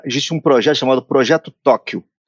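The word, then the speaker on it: Tokkio: um projeto chamado projeto Tóquio se pronuncia igual ao Tóquio no Japão mas escreve to kk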